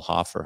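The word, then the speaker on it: Hofer: young goaltender coming up, Joel Hoffer, I think, yep, that's how you pronounce it, that he might even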